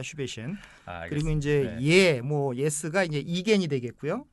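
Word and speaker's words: Igen: 그리고 이제 예스가 이제 이겐이 되겠고요.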